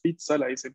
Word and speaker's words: pizza: palabra parte del español por ende se va a pronunciar como la pronunciación italiana así que la variación pizza cuando vemos dos zetas